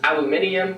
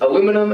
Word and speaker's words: aluminium: Next one is aluminium, which is aluminum as we would say it.